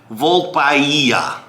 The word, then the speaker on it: Volpaia: Volpaia. Castello de Volpaia, I think, is how we pronounce this.